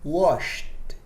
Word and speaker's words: washed: E na palavra washed, o ED é pronunciado com som de T.